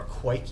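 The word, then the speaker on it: kveik: something similar recently using a Norwegian weak yeast or quite yeast is how it's actually pronounced and I I didn't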